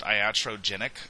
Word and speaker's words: iatrogenic: And as part of evaluation, one thing that we need to be aware of is this is pronounced iatrogenic effects.